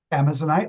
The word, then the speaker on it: Amazonite: Is it Amazonite or Amazonite? Amazonite, like the Amazon.